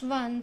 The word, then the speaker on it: one: So here we see one, but we know that one, the sound when we pronounce one, the sound of W comes out.